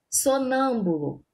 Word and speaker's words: sonâmbulo: Exemplo, sonâmbulo, né? Sonâmbulo, a sílaba tônica, a sílaba mais forte do sonâmbulo é o nã.